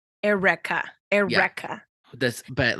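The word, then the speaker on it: Airwrecka: Erica now no no it's spelled a-i-r-w-r-e-c-k-a so it's like air and then wreck like you wreck something uh so is it supposed to be a Twist on Erica correct Erica Erica this but like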